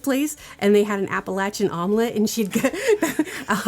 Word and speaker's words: Appalachian: Um, so yes, it is pronounced Appalachia or Appalachin.